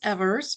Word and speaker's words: Evers: it's okay because I get everything you can think of, but it is Evers, and Evers.